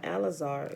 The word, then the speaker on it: Lazarus: And Lazarus, or Alazar, which is how you properly pronounce his name, was called out of his tomb after several days, John 11.